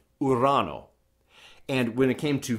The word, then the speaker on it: Urano: us out of it notice it's not iran news so it's simply iran oh and when it came